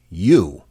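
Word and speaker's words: Eu: According to the report, he named the chatbot the letter E and U, pronounced U.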